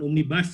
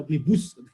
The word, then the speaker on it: omnibus: kan menggunakan omnius ini bahasa Latin d bukan omnibas ya omnibus jadi cara bacanya itu